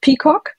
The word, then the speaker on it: PicoGK: compact geometry kernel called Peacock. So Pico for small and then GK for geometry kernel. And the fun of it is that it's pronounced Peacock, which is basically a reference